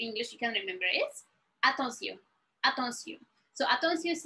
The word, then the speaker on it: attention: And also mean like pay attention, and you know, like it's very close. You can see like when to use it. So we pronounce it attention.